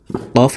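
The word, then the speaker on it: ق: কফ হরফ জিহ্বার গোড়া তার বরাবর উপরের তালুর সঙ্গে লাগাইয়া উচ্চারণ করে পড়তে হবে।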